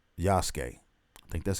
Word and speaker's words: Yasuke: i say that because we have one called um yasuke i think that's how